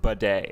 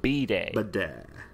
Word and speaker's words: bidet: it's pronounced big bird it's pronounced bidet okay yes not b day this is our own